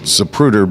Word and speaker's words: Zapruder: Zapruder film or as couple different pronunciations but the it's commonly called Zapruder but i think the right the brooder fam but also the